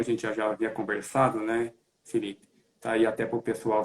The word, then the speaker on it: Phyllyp: eu o Felipe Neto Felipe isso mesmo pronuncia normal Felipe e leve complicadinho é